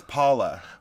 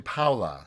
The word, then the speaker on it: Paula: She says Paula. Paula, but it's actually Paula. Paula. Yes. Yeah. Because that's a Latino name.